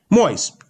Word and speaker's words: Moyes: we're pronouncing it right moyes moist j moist cereal it's pretty obvious that's pretty obvious so